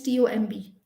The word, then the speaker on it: tomb: t o m d so here again the b is silent so we've seen d